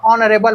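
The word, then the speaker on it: honourable: ना ओ ला लेबो, तो ऑनरेबल बोलथन, मतलब कि ऑनरेबल जरूर पढ़थन होला, लेकिन एच है साइलेंट रहते।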